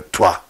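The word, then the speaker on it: Troyes: we said there was a city of troy or two the french pronounce it and this became an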